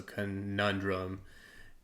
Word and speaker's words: conundrum: stuck right um but the way that he said it he like shortened the first syllable and like didn't put emphasis on it so conundrum um I didn't do